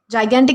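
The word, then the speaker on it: gigantic: जाइगेंटिक, जाइगेंटिक इसका असली pronunciation है।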